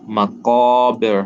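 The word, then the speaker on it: الْمَقَابِر: when reciting hatta zurtumul maqabir. Remember, qaf, round sound, right? A deep sound, not as flat as a calf. So maqabir, right?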